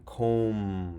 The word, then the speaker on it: comb: looking at MB and MB says hmm as in comb silent B also KN says mm